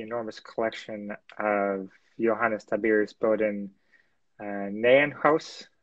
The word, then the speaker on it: Bodel Nijenhuis: And at Leiden, an important part of this is the enormous collection of Johannes Tabir's Bodel Nijenhuis. How did I do on the pronunciation? Okay, it's Johannes Tiberius Bodel Nijenhuis, but I don't expect of you to pronounce it correctly.